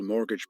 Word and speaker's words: mortgage: It was also the most successful mortgage provider in the region and therefore had a treasure trove of priceless data.